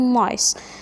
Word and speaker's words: nice: لطيف او جيد nice. لاحظنا برضو هنا الاي طويلة لونج اي. عندي اي سحرية وعندي اي بعدين حرف ساكن اللي هو السي بعدين الاي، فالاي هتكون طويلة لونج اي هنطقها باسمها فاقول نايس.